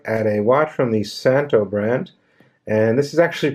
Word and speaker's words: Szanto: a watch from the Santo Brant and this is actually pronounced the Santo not Zonta as you can see the Z is silent it's a vintage styled